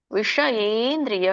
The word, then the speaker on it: ವಿಷಯೇಂದ್ರಿಯ: ವಿಷಯೇಂದ್ರಿಯ. ವಿಷ ನೋಡಿ, ಶ ಮೂರ್ಧನಿ ಶ ಇದೆ. ಮೂರ್ಧನಿ ಅಂದ್ರೆ ಏನು? ನಮ್ಮ ನಾಲ್ಗೆ ತುದಿ ಮೇಲೆ ಅಂಗಳಕ್ಕೆ ಹತ್ಬೇಕು ಅಂದ್ರೆ ಅದೇ ಮೂರ್ಧನಿ ಅಂತ ಕರೀತಾರೆ.